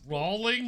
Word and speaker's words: Rowling: grave it's pronounce rolling guys I think it's